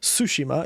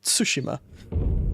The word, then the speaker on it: Tsushima: a bit more normal it's not tsushima it's tsushima has a bit of a t sound at the beginning foreign God's good name